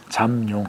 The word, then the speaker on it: 잠룡: 발음을 잘해 주세요. 잠룡. 잠룡. 잠이죠. 네. 미음 받침이에요. 네. 비읍 받침 아니에요.